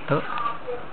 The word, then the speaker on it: 得: 我得头，会得头，得到的得啊，念作得。